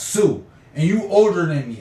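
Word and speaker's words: Sioux: when you you saying sux cuz it's spelled s i o ux but it's really pronounced Sue and you older than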